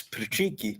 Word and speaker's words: Patricky: I do, but Yeah, his name is spelled Patrick with a Y on the end, Patricky. It's Patricky.